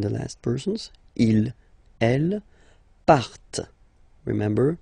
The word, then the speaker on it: partent: And the last persons, il, elle, partent. Remember, classic ending, ENT, but then you don't pronounce them.